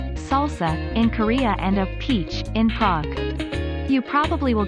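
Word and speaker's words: piç: outside of turkey pic pronounced peach is the turkish word for bastard so when in turkey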